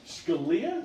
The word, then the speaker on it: Scalia: Scalia? Yes, that's the right pronunciation.